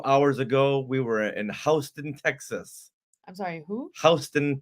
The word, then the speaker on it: Houston Street: Yeah, over in New York City, there's a Houston street, but everyone pronounces it Houston. What? Yeah. That's so weird. The weird. craziest thing ever. It's like, no, it's Houston.